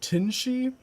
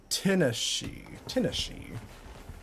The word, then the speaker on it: Tinashe: Tinshay? I don't know how to say her name. She performs after Pride. Tinashe.